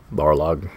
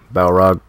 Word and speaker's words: Balrog: Alright, I'll take Barlog. Balrog. I grew up pronouncing it Barlog.